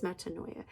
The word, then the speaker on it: metanoia: Okay, and so the word metanoia, it is metanoia. The word noia in Greek is like your N-O-U-S, like a noose.